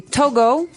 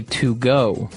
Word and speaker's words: Togo: Okay, so it's Togo. That's the way you pronounce it. Because if you look at it, I would say to go.